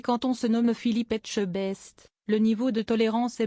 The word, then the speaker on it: Etchebest: Bonjour monsieur Etchebec. C'est encore raté pour cette fois-ci. Philippe Etchebest s'y est repris à 4 reprises avant d'abandonner l'idée de faire correctement prononcer son nom à Karine. Bonjour Etchebest, a-t-elle carrément sorti dans un excès de désespoir